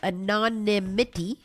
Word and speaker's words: anonymity: One former detainee who requested a non an anomy uh anonymity.